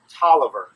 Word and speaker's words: Taliaferro: probably another French word Taliaferro that sounds French but we don't pronounce it that way we pronounce it Toliver pol I ve R